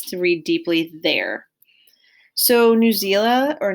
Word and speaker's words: Newsela: So Newsela or Newsela, I've heard it pronounced many different ways, is interactive.